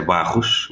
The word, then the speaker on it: Barros: My contact, let's say, is Jose Barros, which is Jose with a more Anglo-Saxon pronunciation.